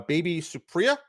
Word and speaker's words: Baby Supriya: to bring on uh a esteemed guest uh baby supriya is that that i pronounce that right yes awesome um so first